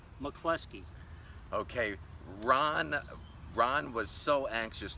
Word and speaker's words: MacCloskey: It is MacCloskey, just like in The Godfather, the lieutenant that got shot and the other guy that got killed, MacCloskey.